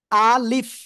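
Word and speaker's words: ألف: আলিফ। কোনো টান হবে না, আলিফ টেনে পড়া যাবে না।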